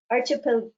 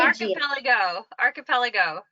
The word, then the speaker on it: archipelago: The Haida Gwaii is actually and I have a hard time with this word, archipelagia. I'm not going to say it right. Archipelagia. Archipelago.